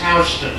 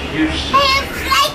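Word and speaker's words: Houston Street: main streets this is hon Street hon some people might pronounce it Houston spell the same way is butman Houston is pronounced house I know it's strange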